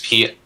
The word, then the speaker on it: Petilil: Is there an extra vowel in there or not? There's Petilil. Yeah. That's correct.